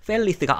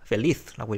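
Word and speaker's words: feliz: 그렇기 때문에 이제 그럴 때는 맨 뒤에 있는 음절에 강세가 오면 되거든요. 그래서 펠리스가 아니고 펠리스라고 읽어줍니다.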